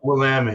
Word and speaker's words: Willamette: Is that how you pronounce it? Willamette? Willamette.